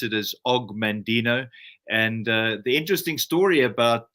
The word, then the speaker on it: Og Mandino: This book is of course being Afrikaans, you would pronounce it differently to me, but I pronounce it as Og Mandino.